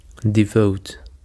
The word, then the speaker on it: devote: Devote. And the stress is on the second syllable, devote. Devote actually is a verb,